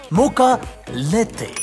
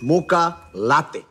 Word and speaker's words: mocha latte: I have called for your favourite Choco Mocho Lotto First, learn how to say it properly It's Mocha Lete No, sir. It's Mocha Latte!